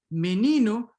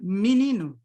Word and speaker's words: menino: So E and O are then raised and pronounced as E or U, respectively, when there's already a stressed E or U in the word, right?